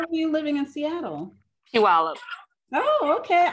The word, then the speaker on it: Puyallup: Puyallup. Oh, okay. I couldn't pronounce it when I first got there. Yeah, I know. Pull your lip.